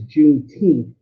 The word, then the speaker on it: Juneteenth: It's June 19th, and what you'll hear is Juneteenth as in like teenth of how it's actually pronounced.